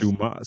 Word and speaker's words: Dumas: He And says he's all like, this yo, dumbass mad times, and this dude he's like, goes, yo, it's it's pronounced Dumas. Dumas.